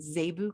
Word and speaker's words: zebu: kind of cattle they have here it's called zebu cattle or zebu z-e-b-u they're they're quite different